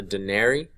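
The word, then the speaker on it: denarii: to the the laws this right here unbelievably pronounced a Denari Denari right it's a silver coin so one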